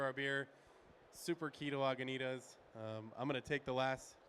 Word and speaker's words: Lagunitas: the ingredients for our beer super key to Lagunitas I'm gonna take the last two minutes and